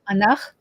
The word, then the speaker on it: Ankh: the origin of ancient Egypt, which was an Anach colony. The Anachim are the Anunnaki. Okay, it's the real name Anachim. Mm-hmm. Anach is the language.